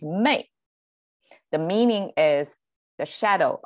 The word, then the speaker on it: 昧: And then the right side is pronounced by itself, wei. But combined together with the sun, it becomes mei.